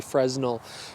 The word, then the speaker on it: Fresnel: It is also a PF lens, or a lens, and that stands for, well, I pronounce it phase Fresnel, but some people prefer phase Fresnel.